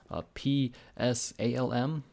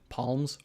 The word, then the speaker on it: Psalm: Psalm, whatever. I was pronouncing it palms, or the fuck, like a hand palm.